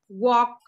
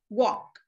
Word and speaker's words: walk: i always say is that letter l is silent would could should talk walk silent ale all of these words would could shoot talk walk no that's a sign